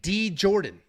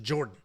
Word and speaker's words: Djorden: the calories guys is it really silent it's like d Jordan no it's legit Jordan the D does not exist in this I don't know why there's a d there it's just Jordan it is silent thank you for the